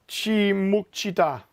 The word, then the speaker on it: Muchida: It's Muchida. Muchida? Yeah. Or just one Muchi? No. 1, 2, 3 Muchi and a da. So Muchida.